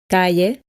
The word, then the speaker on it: calle: Please take note the pronunciation of the following words. Llave, calle, apellido, pollo, lluvia.